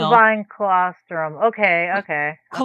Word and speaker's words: colostrum: But also has and I'm going to pronounce this wrong. Liposomal boine colostrum.